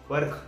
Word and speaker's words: Perak: करना चाहिए अगर आप जावा पर्क या फिर परक अगर बाय करने की सोच रहे हो। यहाँ पे अलग अलग इसके प्रोनाउंसिएशन है।